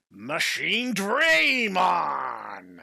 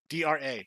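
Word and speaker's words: Machinedramon: And I don't just mean the weird pronunciation that they elected to go with in next order when they put an unnecessary Y in his name, because it's Dra. D-R-A, dragon, Dra.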